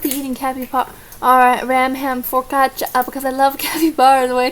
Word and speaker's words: focaccia: Hang on, how do you pronounce that? Focaccia? Focaccia.